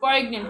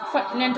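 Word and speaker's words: poignant: আমরা যখন সহজ বাংলায় উচ্চারণ করব তখন বলবো পয়েগনেন্ট, কিন্তু শব্দটার উচ্চারণটা ভুল। এটা উচ্চারণ হলো জিটা সাইলেন্ট থাকে, আবার এটা আইটা এটা ই আসে একটু ছোট্ট করে, হ্যাঁ, এটা আমি আসলে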